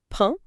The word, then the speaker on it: pain: Écoutez bien la prononciation, répétez le mot « pain » avec le nez. P-A-I-N. Pain.